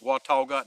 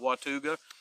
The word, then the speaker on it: Watauga: somewhere uh on lake watauga and it is pronounced lake watauga not watuga and then they are